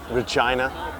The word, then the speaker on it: Regina: I remember, I'm from Canada, so I remember doing a show in between Regina, Saskatchewan. Yeah, I know, it rhymes with vagina, no big deal.